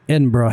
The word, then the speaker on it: Edinburgh: And by the way, if you've never seen how Edinburgh is actually spelled, I'd never taken a close look at it. Does not look like it would be pronounced Edinburgh if you didn't know how to say it correctly.